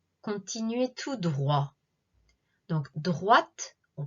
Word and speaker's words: droite: droite allez tout droit continuez tout droit donc droite on prononce bien le thé droite allait tout droit